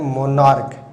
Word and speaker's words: monarch: देखिए एक वर्ड है MONARCH, इसका उच्चारण होता है मोनार्क, इसका उच्चारण होता है मोनार्क।